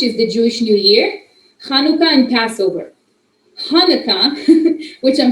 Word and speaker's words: Hanukkah: rosh hashanah which is the jewish new year hanukkah and passover hanukkah which i'm sure you've heard of it's pronounced chanukah is um a nutshell when there was a